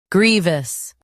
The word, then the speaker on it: grievous: Both US and UK have the same pronunciation of this word. Grievous. Now read the syllables shown on the screen naturally. Gree. V. Grievous. Stress gree and keep voose light.